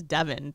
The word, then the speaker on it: Devon: call it you know we still call it divine Avenue which goes you know technically it's Devon that's how they pronounce in England and we all start